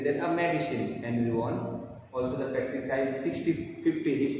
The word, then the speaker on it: Vaughan: Here not Vaughan, but it is Henry Vaughan.